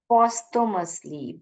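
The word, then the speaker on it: posthumously: परम वीर चक्र एंड हाउ ड यू प्रोनाउंस पस थ मस ली पोस्तु मसली तो पोस्तु मसली ही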